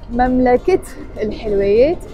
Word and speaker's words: مملكة الحلويات: But when I added a noun to it, in this case حلويات, sweets, I pronounced the تاء مربوطة and I said مملكة الحلويات instead of مملكة الحلويات.